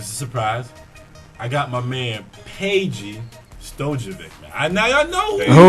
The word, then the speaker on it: Peja: Peja Stojakovic. Yeah. You said Peji Stojakovic. I don't Whatever. know how to pronounce that last name. I'm not good with the Yes, I do know Peja Stojakovic.